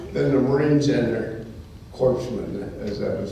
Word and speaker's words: corpsmen: There's no greater love than the Marines and their corpsmen, as that is pronounced.